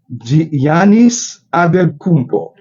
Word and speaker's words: Giannis Antetokounmpo: By the way, how do you pronounce this name of the basketball player? That's Giannis Antetokounmpo.